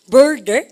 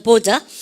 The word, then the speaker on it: border: 원래 미국 애들은 어떻게 발음한다고요? border 알발음 많이 하죠. 중간에 알발음 영국 애들이나 유럽 가시면 border이라는 발음은 하지 않습니다. 어떻게 합니까? border 여러분들 그래요. 그래서 알발음 하지 않죠. 중간 알발음을 발음을 갖다 보셔서 border 그죠? border 그러는데 얘가요 명사로서 국경 동사로서 어디에 인접하다 뜻입니다.